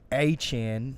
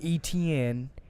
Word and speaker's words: Etienne: Our local boy Travis Etienne, not ETN. Get it right, ESPN, next time. Boy's going to be in the Heisman pool next year, so y'all better learn how to say his name right.